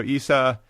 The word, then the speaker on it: Isa: say that you know the protagonist isa is that the correct pronunciation yes okay so isa and then gala it's